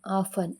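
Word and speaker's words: often: ಪದಗಳಲ್ಲಿ N silent ಆಗಿದೆ T silent ಆಗಿರುವಂತ ಪದಗಳು ಹಚ್ ಎಎಸ್ಟಿಇಎನ್ ಹೇಸನ್ ಅಂದ್ರೆ ತ್ವರಿತಗೊಳಿಸು ಎಲ್ ಐಎಸ್ಟಿಇಎನ್ ಲಿಸನ್ ಅಂದ್ರೆ ಕೇಳು ಓಎಫ್ಟಿಇಎನ್ ಆಫನ್ ಅಂದ್ರೆ ಆಗಾಗ ಇವಿಷ್ಟಲ್ಲಿ ಟಿ ಸೈಲೆಂಟ್ ಆಗಿದೆ ಯು ಲೆಟರ್ ಸೈಲೆಂಟ್ ಆಗಿರುವಂತ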